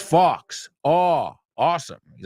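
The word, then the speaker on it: Fawkes: dude you said guy it's Fox oh awesome he's like guy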